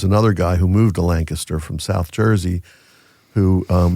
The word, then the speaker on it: Lancaster: uh Lancasterians out there, you actually pronounce Lancaster correctly. So from where we're from that that means it's not Lancaster, right? Not Lancaster. It's Lancaster. You always put a kiss in the middle middle there.